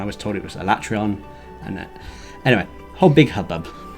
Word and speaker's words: Alatreon: turns a cool name yeah although apparently it's pronounced it was alatreon and then i got told off it was pronounced in that way so and i was told it was a latrion and anyway whole big hubbub trey and finally